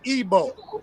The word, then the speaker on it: Igbo: like that it's really ebo like like like the pronunciation right the I the i in ebo is a e sound it's like it gives off a e sound so when you see